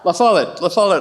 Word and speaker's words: La Follette: And I learned after my dad died that he was a big supporter of Fighting Bob La Follette, right? Thank you. Say it correctly. La Follette.